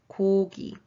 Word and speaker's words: 고기: The second word is meat, and it's pronounced 고기, 고기, 고기.